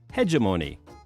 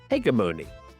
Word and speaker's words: hegemony: It's interesting that British and American pronunciation is different for this word. American English uses a soft G, and British English uses a hard G. So I pronounce it hegemony. And I pronounce it as hegemony.